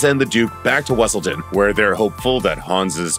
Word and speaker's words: Weselton: duke so frequently insists pronounced wesselton not weaseltown your majesty the duke